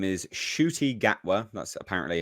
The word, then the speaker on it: Ncuti Gatwa: His name is Ncuti Gatwa. That's apparently how I've been told you're supposed to pronounce it.